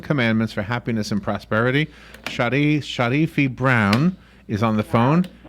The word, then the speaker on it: Sharifi: Sharifi Brown is on the phone. Am I saying your name?